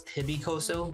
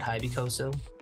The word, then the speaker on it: HYBYCOZO: So I guess I was pronouncing it wrong. It's HYBYCOZO, not HYBYCOZO.